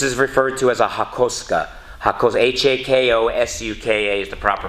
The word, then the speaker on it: hakosuka: nissan skyline this is referred to as a hakosuka hakos h-a-k-o-s-u-k-a is the proper pronunciation you'll hear it pronounced many different ways